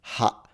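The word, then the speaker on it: は: So if you don't know Japanese, the reason why this is funny is because this on its own is pronounced ha in Japanese.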